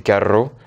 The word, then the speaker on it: carro: Carau donc ca de et c'est pas la même prononciation du R quand il y a de r par exemple c'est carro alors sinon on dirait